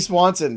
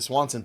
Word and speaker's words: Swanson: Dansby Swanson has had himself a series against the New York Mets.